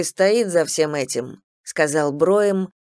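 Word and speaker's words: Brougham: он задумчиво замолчал кстати меня зовут им бро им произносится бро им они бро им не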